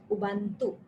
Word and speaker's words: Ubuntu: I don't know whether U is silent or if we speak about it, but the spelling is UBUNT and it is U, Ubuntu.